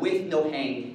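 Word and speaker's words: WNOHANG: And then we have one extra argument to this function called with no hang, is how you pronounce that.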